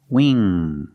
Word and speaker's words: wing: Pronunciation, make that long E sound, we, plus the NG, The N sound in the back. The sound comes from the back. And the nose. Wing. There's no G sound.